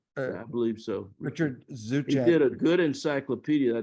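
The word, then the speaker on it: Zuczek: No, but it's pronounced Zuchek. Zuchek.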